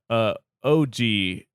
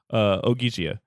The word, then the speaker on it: Ogygia: OGYGIA.